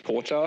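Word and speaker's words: 紅茶: It's very hard to pronounce, but in Japanese it's kocha. Take a look at the winnings here. Koucha.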